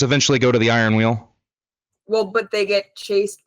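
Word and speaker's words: Weald: It's wheeled with a D, but it's spelled we A L D.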